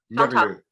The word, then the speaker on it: Marriott: So yes, that is Chantal Marriott. Say that again. Marriott. So Marriott. you've got to, in French, of course, you roll your Yes. R's, and so you've Okay. got to try and roll your R's.